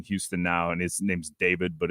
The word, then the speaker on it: D4VD: And his name's David, but it's spelled D4VD.